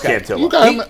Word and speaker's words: Cantillo: I think it is Cantillo.